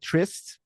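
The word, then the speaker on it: TRYSTE: So, well, for anyone wondering there, so the band is called Trist. Uh, and it's spelled, uh, t R Y S T E, which is an old spelling for for the word, you know, Trist, like the meaning in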